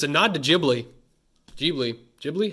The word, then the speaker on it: Ghibli: I think so if it's a nod to Ghibli deeply Ghibli how do you say it it's Gigli I'm all for it shanks beautiful-looking shakes man aren't in this reverse comment mr.